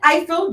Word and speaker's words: Ifill: it is i feel very simple mr grafton eiffel jr yes ma'am oh platinum hands llc welcome